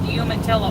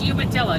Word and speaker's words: Umatilla: i used to tease my friend who called humantilla oregon umatilla umatilla it's umatilla dude so yeah the lane